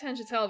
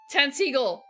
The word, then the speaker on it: Tantegel: Yeah, I started at Tangentel, but...